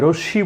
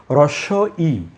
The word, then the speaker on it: হ্রস্ব ই: এটাকে কিন্তু অনেকে ভুল বলেন, যে রশ্মি বলেন। এটি আসলে রশ্মি নয়। আমরা একটু সাবধান হয়ে বলবো যে হ্রস্ব ই, বাংলায় দুটো ই আছে, হ্রস্ব ই এবং দীর্ঘ ই। আমি উচ্চারণটা লিখি, এটির উচ্চারণ হচ্ছে হ্রস্ব ই।